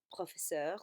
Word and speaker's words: professeurs: slightly, it was 4 professeurs, so that becomes quatre professeurs. Again, you do put an S on the end, but you don't pronounce it when you say it.